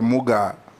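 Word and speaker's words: Mugaa: How do you pronounce the last name? Muga or Muga?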